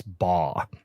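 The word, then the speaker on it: Baugh: still don't um but I think it's Chris ba is the way you pronounce it it's b a u g h yeah that's what I'd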